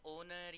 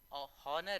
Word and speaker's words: Horner: Little Jack हॉर्नर, इसको बहुत लोग ओनर या ऑनर या ऐसे कुछ पढ़ लेते हैं, लेकिन ये हॉर्नर है। चाहे आप गूगल पे भी सर्च कर सकते हैं। The pronunciation of this word is हॉर्नर, इट इज HORNER.